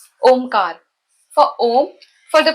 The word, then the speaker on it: Omkar: Kar, with sharp K with the long Hindi vowel A, Ka, followed by the soft Spanish R, Kar. So it becomes Omkar.